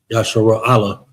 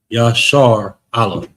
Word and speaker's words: Yashar Allah: syllable, and these two, the shar and ra, is connected. Is going to be one, so it's going to be shar, and instead of shara, Yashara Allah. I think that would be incorrect. Yashar Allah is how you pronounce that.